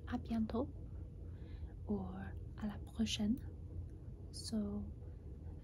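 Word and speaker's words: à bientôt: say like see you then you can say abiento or a la portion so like because it's less syllables can say abiento ah biento a piento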